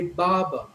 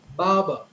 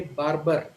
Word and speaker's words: barber: word they would say Baba for the R in the first syllable and the R in the second syllable both are silent Baba but a typical Indian would say barber so in an Indian